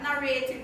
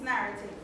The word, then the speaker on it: narrative: One thing, you mispronounce the word narrative. It's not narrative, it's narrative.